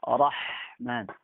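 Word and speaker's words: رحمن: Nah, yang benar adalah bacanya ra tebal, ha tidak ditukar dengan ha. Jadinya Rahman.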